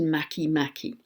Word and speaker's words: Makemake: Another I want to mention is a dwarf planet called, it's spelt MakeMake, all one word, but I understand it's pronounced MakeMake.